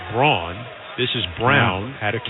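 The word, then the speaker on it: Braun: a foul is called Brown is spelled b r a u n like my shaver but that you call it Brawn this is brown out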